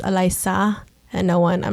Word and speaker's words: Alysa: like alyssa but it's you have to pronounce it with like a spanish or filipino accent actually it's pronounced elisa and no one i'm